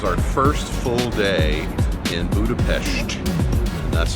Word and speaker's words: Budapest: It is our first full day in Budapest. And that's how we were told by the locals last night to pronounce it, Budapest.